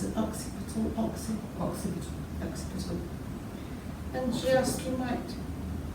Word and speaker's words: occipital: You can never pronounce it, occipital. And just, you might like to... Occiput is the back of the head. Occiput. Yes, occipital is an adjective, occiput is the noun.